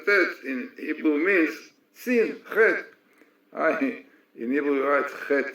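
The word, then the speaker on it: חטא: in Hebrew means sin, Chet. In Hebrew we write Chet, Tet, Aleph. The Aleph is paralyzed. We don't pronounce it, because this is a symbol for the soul, which a result of sin is paralyzed.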